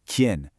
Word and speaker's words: quién: Okay, tip number 1 is the word quién. You want to make it one quick, sharp syllable. It sounds like quién.